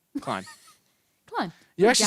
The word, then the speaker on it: Klein: Klein. Klein. You You're actually said it Jared right the Klein. first time. Usually people say clean right away, but I corrected myself, didn't I?